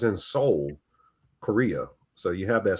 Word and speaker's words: Seoul: You notice, Donna, you saw it's in Seoul, Korea. So you have that Seoul, or is it pronounced Seoul? But it sounds like it's soul, like the actual human soul.